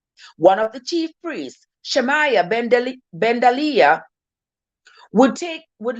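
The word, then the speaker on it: Shemaiah: priest they've sent the priest shamaya shamaya that's how it's pronounced to tell him that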